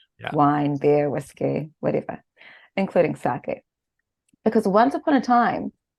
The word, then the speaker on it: sake: of this unique drink the word sake or saki as it's often Mis pronounced in the west is